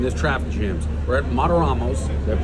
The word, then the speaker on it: Martorano's: We're at Martorano's. Did I pronounce it right? Yes, Martorano's.